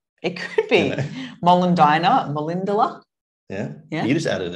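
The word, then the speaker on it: Molendinar: And so I would say things like Molindala. Hang on, which is the right one? I forget. Molindina. Right. Okay.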